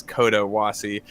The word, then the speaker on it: Coda Wassie: mentioned that this canyon it's actually not spelled uh like my name so i spelled it phonetically um if that's like how you would i'd like like how you pronounce it is coda wassie i thought it was